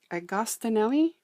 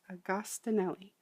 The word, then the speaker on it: Agostinelli: It is Wendy's Journal Adventure, and Gail Agostinelli, I'm going to say, is how I believe it's pronounced. I grew up around quite a few Italians, and I think that's kind of how you say it. I apologize if I got it wrong, but I think it's Agostinelli.